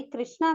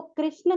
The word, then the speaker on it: कृष्ण: तो आपको कृष्ण करके ही उच्चारण करना चाहिए, कृष्णा करके उच्चारण नहीं करना चाहिए।